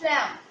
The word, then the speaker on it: lamb: It's comb, it's climb, it's thumb and it's lamb. Means part of B is cancelled from these words. The pronunciation of B is not anymore in these words.